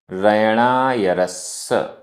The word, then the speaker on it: रयणायरस्स: रयणायरस्स, रयणायरस्स, आधा सा पूरा सा।